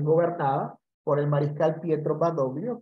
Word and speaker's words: Badoglio: Una parte de Italia, que es gobernada por el mariscal Pietro Badoglio, quien fue, o Badoglio, como se pronuncia en italiano, que fue, digamos, nominado